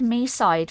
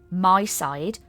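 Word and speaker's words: Mydei: And then somebody, like, I've heard since then so many YouTubers and streamers saying My Side that I was like, oh, okay, I said it wrong. I've been saying Me Side, but everybody's saying My Side. Because it's like be by my side, right?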